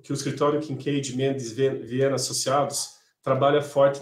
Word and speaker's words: Kincaid: Kincaid se escreve com K e D de dado mudo no final.